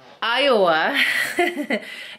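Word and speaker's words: Ayawoa: And then I'm gonna meet my friend, Iowa. It's spelled A-Y-A-W-O-A. Very weird. But she's like, no, it's Iowa, like the state.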